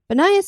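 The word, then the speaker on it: Banias: great pan is dead banayas is the Arabic pronunciation of the Pagan cult city known as panius as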